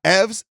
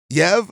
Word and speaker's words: Yves: talk about is uh ev's I believe I believe no EV I believe the S is silent I looked it up